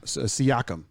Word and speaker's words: Siakam: Pascal Siakam. That's how you say it. Oh, Siakam. Okay. I said Siakam because that's the way I first said it.